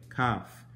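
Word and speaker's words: kaph: bro cough c-a-p-h yeah it's a c but it's pronounced the exact same way cough this one known as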